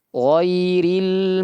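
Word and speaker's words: غَيْرِ: Ghairil magdubi alaihim waladin. Almagubi ginnya ditebalkan. Ghairi ginnya ditebalkan. Bukan ghai tapi ghai ghai ya ghairil magdu sambil dialirkan suaranya ya huruf dad ah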